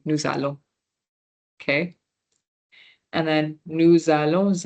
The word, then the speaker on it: nous allons: However, when it was nous and then allons, because this is a consonant and this is a vowel right next to each other, we'll say nous allons.